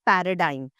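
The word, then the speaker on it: paradigm: सो, so let's quickly go through the words which have silent ji. The first one इज़ पैराडाइम।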